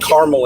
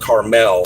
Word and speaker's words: Carmel: But but this town called Caramel, Indiana, now they're saying it's pronounced Carmel.